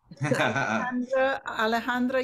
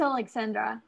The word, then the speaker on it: Alexandra: good luck great leg alejandra you're next or alexandra how do you say your name uh it's alexandra thank you joanne uh